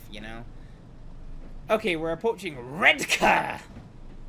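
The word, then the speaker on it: Redcar: Okay, we're approaching red car, which is apparently how you say this.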